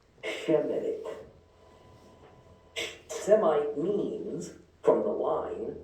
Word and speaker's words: Semitic: Akkadian is a Semitic language. Let me remind you that the term Semitic is essentially a mispronunciation. It ought to be pronounced Shemitic.